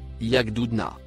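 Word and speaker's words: يغضضن: Il se prononce yagdoudna.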